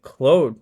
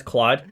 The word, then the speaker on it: Claude: Is it Claude now, or Anthropic rather? And I say Claude because I'm from Quebec. It's also known as Claude.